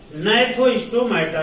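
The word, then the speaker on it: Gnathostomata: दूसरा आपका है नैथोस्टोमाटा, जहां जी साइलेंट है।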